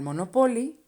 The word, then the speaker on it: Monopoly: No me gusta jugar al Monopoly porque siempre pierdo. Okay, the word monopoly. In Spanish, monopoly. Same spelling, different pronunciation.